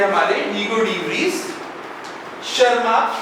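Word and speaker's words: Tschermak: लेकिन तीन साइंटिस्ट थे हमारे हीगो डीस शर्मा टी साइलेंट है यहां पर।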